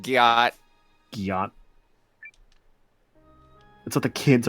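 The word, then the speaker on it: gyatt: I can see why you said Gaiet, because it looks like Wyatt, the name, but it's pronounced Gyat.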